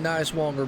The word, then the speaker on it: Nicewanger: Shane Nicewanger, man, looking very good. And yes, that is how you pronounce his name for the asking before the race.